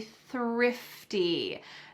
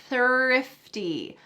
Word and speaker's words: thrifty: I try to be thrifty. Notice that when I pronounce this, my tongue is between my teeth and there's a stream of air coming out.